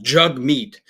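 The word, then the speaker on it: Jagmeet: pronounce my name properly it's pronounced jug meat like dude no one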